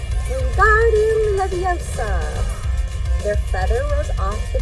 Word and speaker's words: Wingardium: You're saying it wrong, Harry heard Hermione snap. It's Wingardium Leviosa, with the gar nice and long.